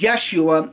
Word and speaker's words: Yeshua: on to say that it was actually pronounced as Yeshua in the Aramaic language now it's interesting to